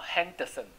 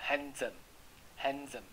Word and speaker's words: handsome: d 呢在子音前面呢，它会念字的声音。那么 s 是不是应该在字的中间也会念字？那字跟字是不是很接近？所以你就不会念两次。好，handsome，好不行哈，handsome，你就这样念，d 跟 z 是几乎像一样的。Handsome，好，所以念 z 啊，d 跟 s 要念 z，就是这个原因。好，handsome，好，这样是不是就是会让你有一些很多的了解？好，就要相信我，像我们这么努力的去读书，就目的就是想要告诉你。可惜我只能教英文，其他不保证。好啊，读会可以读报纸，但是不保证它是真的。好，因为那是报纸啊，又不是我写的。好，那如果是我写的论文呢，我就要去查询每一个资料，要去查证。因为既然是用我名字发出去的，我就得要有一定的真实性，要这样人们才会相信我，就好像你相信我一样。好，我们来练习一下刚刚的那个，我一口气然后呼吸，就一直讲一直讲讲，然后有时候会呼吸不过来，然后这样子很累。好，形容词，我们请 Anna